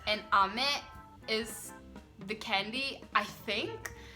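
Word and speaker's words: 飴: one is which, but there is a difference in how you pronounce the word with intonation. So one is like ame and one is ame. Oh yeah. So I think rain is ame. The going down, going up.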